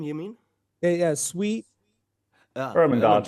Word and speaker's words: Ermengarde: bothering me all this time because I cannot pronounce it correctly. the uh, last name you mean? Yeah, sweet. Ermengarde. Ermengarde. Yeah, Wait, say it one more time. Last? Jacques. uh, Okay, Ermengarde. Ermengarde.